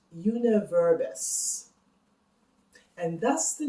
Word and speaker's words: jeneverbes: Juniper berries in Dutch is pronounced Jeneverbes, and thus the name Jenever.